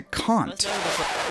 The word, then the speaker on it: Kant: Its name is a reference to Kant. Yes, that's right, Kant. That's how you pronounce it. Not Kant, not Kant, not Jones, but Kant. It's a German name, and I'm quite happy